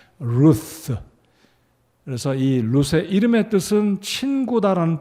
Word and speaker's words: Ruth: 여러분 룻의 이름은 무엇일까요 영화 발음으로는 ruth 루스 그래서이 룻의 이름의 뜻은